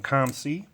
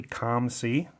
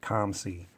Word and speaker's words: COMC: for the package I got a box from comc in the mail a couple days ago now and have been waiting to open it on camera and yes it is actually calm see I know some people pronounce it co MC